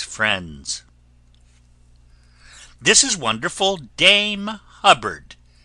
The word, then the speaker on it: Hubbard: this is wonderful Dame Hubbard named that always rhymes with cupboard ever going out to